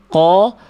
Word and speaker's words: ق: Jangan katakan ko, k, ku, tapi qo, qi, qu; Tidak akan ada yang keluar, tidak akan ada hembusan napas karena makhraj sesuai dengan aturan.